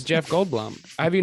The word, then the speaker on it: Goldblum: Jeff Goldblum it's Jeff Goldblum how do you say it gold balloon it's you are you it's a lot it's like a long year yeah like the word Blum yeah Jeff wait old